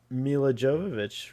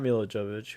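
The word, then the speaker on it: Milla Jovovich: on star trek and then mila jovovich right not milo jovich who was uh uh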